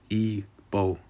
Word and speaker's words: Igbo: ebo Landing it is it's red Igbo but the way you pronounces ebo all right and then